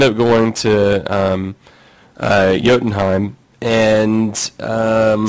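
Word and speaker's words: Jotunheim: uh yottenheim and um swear to god i've been pronouncing that jokenheim for years and then the space of like one month i've had three different cartoons and films tell me i'm wrong yeah it's yodan um so they go to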